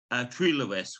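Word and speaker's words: Trelewis: Is it Trelawis? Is that how you pronounce it? Trelawis, which means in Welsh it means Lewistown, which Lewistown?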